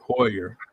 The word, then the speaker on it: Heuer: How do you say it? Hoyer, ain't it? Hoyer.